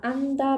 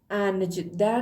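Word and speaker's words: 앉다: اندا به معنی نشستن بچه‌ها انجده نه انجده گفتنشم خیلی سخته موقع تلفظ کردنش به این صورت زمانی که حالا به این حالتش حالت‌هایی که صرف میشه رو دوباره بهتون میگم ما این رو تلفظ می‌کنیم اندا اندا خب بریم سراغ مگدا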